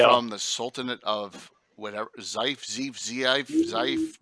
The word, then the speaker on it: Zeif: All Hey, from the Sultanate of whatever, Zeif. How do you guys pronounce it? We go with Zeif now. Zeif.